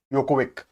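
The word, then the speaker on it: Djokovic: यह बात करते हैं नोवाक यो कोविक ठीक है यूरोपियन कंट्रीज जो होती है वहां पर जे साइलेंट होता है ठीक है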